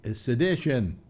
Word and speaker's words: sedition: Sedition.